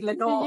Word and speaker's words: Lenore: wanted to correct um you've always pronounced my name incorrectly I kept quiet about it many of the times but my name is Lenor and not Leno so um I always